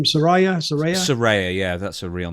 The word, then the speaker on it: Saraya: Saraya? Saraya, yeah, that's her real name, Saraya.